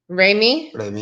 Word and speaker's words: Remy: uh how you okay how you say it again raymie yeah raymie just like remy okay you know that